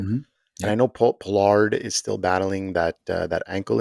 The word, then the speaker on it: Pollard: I think it's pronounced Pollard. It is pronounced Pollard.